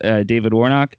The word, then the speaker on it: David Warnock: We have with us David Warnock. Did I pronounce that right?